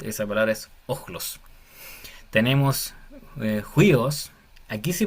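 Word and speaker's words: υἱός: dos focales está unidas, esta respiración fuerte se le se escribe en la segunda letra, pero se lee al principio. Entonces, la palabra sería juíos, significa hijo.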